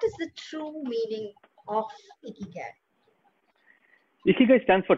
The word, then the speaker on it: ikigai: Ikigai Coach?